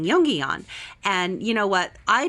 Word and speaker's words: Jongejan: So for me, it took a while. It's Jongejan, and you say it really fast, and you pretend like you're Dutch when you say it.